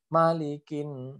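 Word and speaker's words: مَلِكِ: Padahal mim di situ adalah pendek. Jadi bacanya malikin. Nah, gitu. Maliki bukan malik, tapi malikin. Nah, gitu ya.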